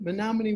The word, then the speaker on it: Menominee: So first of all, you're coming to us from the beautiful town of Menominee, Wisconsin.